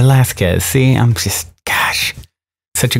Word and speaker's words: Velasquez: have heard of Lizzie Velasquez? Am I saying that right, Dan? You usually don't pronounce the U. See, so I knew I was getting it wrong. How should I say it? Say Velasquez.